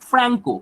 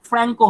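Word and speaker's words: Franco: ফ্রান্স হবে ফ্রান্সো, কিন্তু এর উচ্চারণটা ফ্রান্সো নয়, কি হবে? ফ্র্যাঙ্কো। কি হবে উচ্চারণটা? ফ্র্যাঙ্কো হবে।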